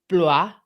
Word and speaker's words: Blois: In 1149, the Abbey, decided to sell the Manor of Southwark to Henry of Blois.